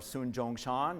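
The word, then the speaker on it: Sun Zhongshan: father of China and Mr Sun yaten or sun Jong Shan in Chinese pronunciation this picture is is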